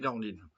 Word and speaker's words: Nordin: Carla Bruny et Charlotte Nordin Nordine pardon ça s'écrit Nordin ça se dit Nordine entre homme dans l'énergie